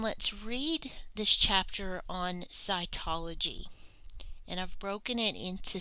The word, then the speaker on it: cytology: a particular branch of science and this is pronounced SCI ecology cytology what is a human cell cells are the